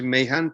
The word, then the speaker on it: Mahan: esencial es decir y yo decía mahan porque nunca sé cómo se pronuncian los nombres propios en inglés y tú dices que es my hand pues llegó a partir